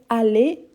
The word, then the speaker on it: aller: Aller, aller avec R et aller avec Z, il y a la même prononciation.